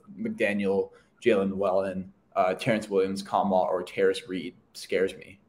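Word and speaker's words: Nkamhoua: And the Tennessee transfer, Olivier Kamwa? You don't pronounce the end. Yeah, Olivier Kamwa from Tennessee.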